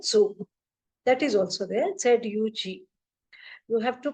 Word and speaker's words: Zug: The same way you have to pronounce for Z. So it is Zug.